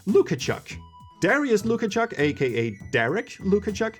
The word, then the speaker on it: Lukaszuk: The brothers were originally from Poland, and their last names were, well, Lukasz Suck, or as it's actually pronounced, Lukachuk.